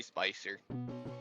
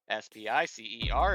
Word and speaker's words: Spicer: S-P-I-C-E-R. It's exactly as you would imagine.